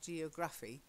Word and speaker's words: geography: Geography, not geography, geography.